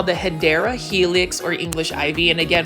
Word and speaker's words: Hedera helix: what you call the hedera helix or English ivy and again for those that are watching my video for the first time I always mispronounce how to say hadera Helix to hedra Helix just because when I